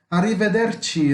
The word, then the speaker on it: arrivederci: Arrivederci, ragazzi.